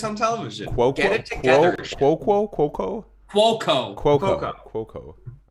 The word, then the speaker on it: Cuoco: Cuoco.